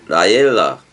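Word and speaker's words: לַיְלָה: 라엘라 해봐봐. 라엘라. 사실 약간 애 발음을 해줘야 돼. 라엘라.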